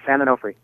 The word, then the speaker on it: San Onofre: So there's this nuclear power plant at San Onofre. Am I pronouncing that right? Yeah, San Onofre.